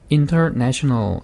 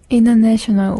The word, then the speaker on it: international: 자, T가, N 다음에 와서 생략하는 경우인데, 11번 단어인데요. international 이라고 해도 되지만, 그냥 T를 없애버리면 어떻게 될까요? international. 예, international. 이렇게 될 겁니다. international. international. 이렇게 될 거고요.